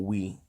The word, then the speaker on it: Huy: He's Vietnamese, but it's pronounced Wee, but it's spelled Huy, like bye or why. But that's just the Vietnamese pronunciation for Wee.